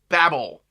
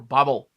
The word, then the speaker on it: Babel: That is Babel, or Babel, or Bobble, however you want to pronounce it. Babel's the way I've always pronounced it.